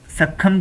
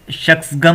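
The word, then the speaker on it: Shaksgam: इससे पहले भी 64 में पाकिस्तान ने अपनी सक्खम की जो पूरी वैली थी वो चाइना को गिफ्ट में दे दी थी, जिसकी सही प्रोनाउंसिएशन शख्सगम वैली था।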